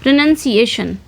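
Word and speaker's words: pronunciation: इसमें नाउन नहीं नन आता है।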